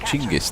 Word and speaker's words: Genghis: Genghis. I think the proper Mongolian translation is Chingis there, but, you know, opinions divided on the proper pronunciation of Genghis. But I'll say Genghis anyway.